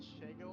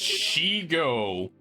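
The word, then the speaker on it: Shego: And one of the first comments was like, "Why isn't Shago on this?" From Kim Possible. I hate the way you pronounce her name. Shago. Shago? It's Shigo. It's Shigo.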